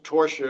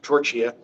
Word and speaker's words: Torchia: pronounce my name right he called me Mr. Torcher instead of Mr. torch here.